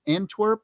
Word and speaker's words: Antwerp: the world and uh uh was it and antwerp is that how it's pronounced in yeah and terp yeah antwerp yeah what people don't realize and and i'm